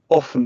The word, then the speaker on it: often: often, often, So both actually use the pronunciation often and often. So you can choose as you please.